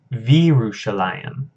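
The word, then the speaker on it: וירושלים: So actually here, so I mispronounced this one as well. Here, our vowels kind of merge together, and this becomes Virushalayim.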